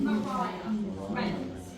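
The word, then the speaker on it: Maria Reynolds: And that's when he meets Mariah Reynolds, which is spelt Maria, but it's said Mariah Reynolds.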